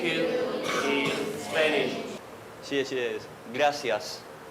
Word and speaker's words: gracias: Gracias. For the "R", it's very strong, it's… Can anyone do that?